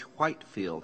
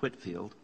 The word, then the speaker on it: Whitefield: The Wesleys partner with George Whitefield, actually it's pronounced Whitfield, in open-air preaching missions in England.